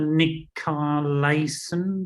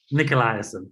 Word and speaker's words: Nicolaisen: And a brand new guest for us that we've not had before, Nicolaisen. No, that's not how you say it, is it? Not great. Close. Nicolaisen.